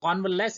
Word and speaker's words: convalesce: कॉन्वलेस इसका प्रोनाउंसिएशन है।